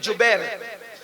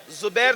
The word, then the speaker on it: جبیر: اس درے پر 50 صحابہ کو عبداللہ ابن جبیر، زبیر نہیں بلکہ جبیر، جیم سے جبیر.